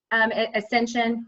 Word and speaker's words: Ascension: to pronounce it, Ascension, is that how I pronounce it? Ascension, yes.